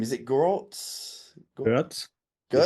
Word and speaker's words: Görtz: Is it Grotz? GZ. GZ. If you want to pronounce it German, it's GZ. Girtz.